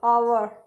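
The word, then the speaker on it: hour: आवर जो होता है ना, उसमें ये एच साइलेंट है, ये आ से आवर इस तरीके से बोला जाता है।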